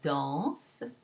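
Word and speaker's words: dansent: The ENT is not pronounced in conversation. So you have, for example, the third person singular, il danse, that ends in a mute E, which is not pronounced, as we said before. And then you make that a third person plural, and you have il danse, and it sounds exactly the same.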